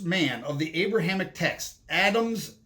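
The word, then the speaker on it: אדם: says that adam was adam adam that's how you say it in hebrew was a white man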